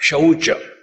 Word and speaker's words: शौच: पहली बात शौच। देखो, स्वच्छ भारत, शौच, वो श है, स नहीं है।